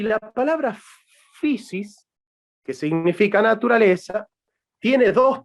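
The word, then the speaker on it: φύσις: una traducción de una palabra griega que se pronuncia physis yo les les dictó para que escriban efe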